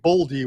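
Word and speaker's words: Boldy: plus money so I'll take boldie which kind of rhymes with Baldi so that'll be my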